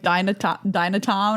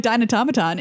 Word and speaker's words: Dinotomaton: I know a lot of people pronounce this card wrong because you're just like Dinotown or I don't know what. But Dinotown? But if you're like Dinotomaton, you sound very cool.